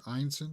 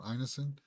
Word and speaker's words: Ineson: This is the way that I think it's pronounced. Ineson, not Ineson. Uh, you know who he is.